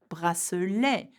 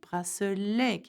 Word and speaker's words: bracelet: Now, sometimes, however, when the word ends with an et, it has more of a e sound.